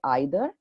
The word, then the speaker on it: either: Either or either, neither or neither. So both are correct. You can say either, you can say either, you can say neither, you can say neither.